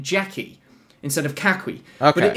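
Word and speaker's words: 家駒: And you pronounce it in Cantonese as Ka Kui, right? Which is kind of how you hear the Jackie, Ka Kui.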